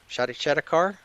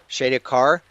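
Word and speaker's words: Shadar-kai: Shadowakar. Am I pronouncing that right, Brandon? Shaki car. Shadak car.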